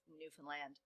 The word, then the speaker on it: Newfoundland: Okay, so let's bring it to Canada and to the Grand Banks off of the coast of Newfoundland and Labrador. You have to say it like that.